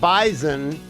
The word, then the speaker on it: bison: Now, the other thing you I learned that you've held on me for 30 years for is that bison is pronounced with a Z, not an S.